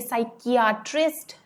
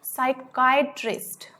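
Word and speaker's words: psychiatrist: इसकी प्रोनाउंसिएशन आप ध्यान रखना, CHIA. इसको किया इस तरह से हम नहीं प्रोनाउंस करेंगे, साइकियाट्रिस्ट नहीं होगा, ये होगा साइकाइट्रिस्ट. मैं यहाँ पे अलग से लिख रही हूँ, ये होगा SAIKAI, साइकाइट्रिस्ट. इस तरह से हम इसको प्रोनाउंस करेंगे.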